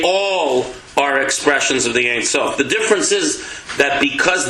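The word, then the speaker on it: אין סוף: The Ein Sof, is that how you say it? Yeah. In Hebrew, that's Hebrew. Ein Sof, yeah.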